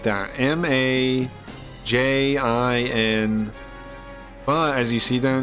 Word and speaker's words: Majin: it is but um in Japanese it's a j and it's Majin and Majin means a